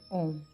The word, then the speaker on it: Om: Om consists of 3 syllables, A, U, and M, which represent different aspects of existence.